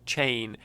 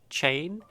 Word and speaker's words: Chane: in the latest set so i'm pronouncing it chain um it seems that there's a little bit of discrepancy in the community about how it's pronounced but i'm going with chain um i i was